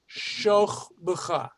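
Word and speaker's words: וּבְשׇׁכְבְּךָ: Most people, it really is pronounced Uvshochbecha. Uvshochbecha. This becomes an O sound here.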